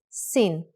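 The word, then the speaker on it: שׂין: the upper right side if the dot in Shin is on the upper left side it is called sin with a sound of s remember let only could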